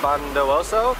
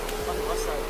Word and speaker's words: Bondowoso: Just got off our bus in Probolinggo and now we're going to bus station to go to Bondowoso. How do you say it? Bondowoso.